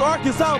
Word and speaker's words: Arkansas: Ain't Arkan. It's Arkansas, baby.